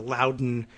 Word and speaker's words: Loudoun: Like I said, maybe because there is a Loudoun, New Hampshire, but also, nothing about the pronunciation of Loudoun makes you believe that there's another U in there, Loudon, but there is. Some facts about Loudoun County.